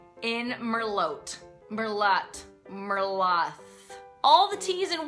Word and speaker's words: Merlot: and finally the 20th wine faux PA is pronouncing the T in merot Merlot Merlo all the teas and wines are silent